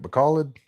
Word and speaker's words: Bacolod: And I don't that Bacolod is pronounced Bacoled, Bacoled, Bacal, Bacauli led, Bacalid, Bacalid. Is that right? Bacalid.